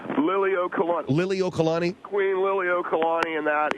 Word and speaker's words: Liliuokalani: Well, first of all, Phil, I want to just correct you on the pronunciation of Queen. The Queen's name, her name is Queen Liliuokalani. Liliuokalani.